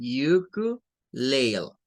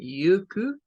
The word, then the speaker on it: ukulele: les decía yo, miren, es como quitar la E de acá y leerlo hasta la L, aplicar como la Magic E, ¿vea? Y decir ukulele, sería uno, pero esta tiene otras pronunciaciones. Y una de ellas, miren, nos dice que es con el sonido U, con el schwa, esta U, miren, ukulele, ukulele, sería una variación de esta.